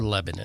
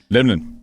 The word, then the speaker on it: Lebanon: it's our Lebanon. Right. And that's actually shortened to two syllables. Lebanon.